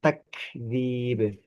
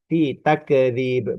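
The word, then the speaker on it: تكذيب: Nah, yang bacanya fi takdzib. takdzib, ya, takdzib, ya. Huruf kaf ini bukan huruf yang memantul, bukan huruf qalqalah, bukan tidak kita baca ti takdzib, bukan. Itu justru ti takdzib, seperti itu.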